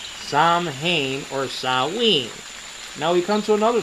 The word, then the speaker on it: Samhain: H AI n for some reason is perfectly pronounced as salween okay this is over here some hain for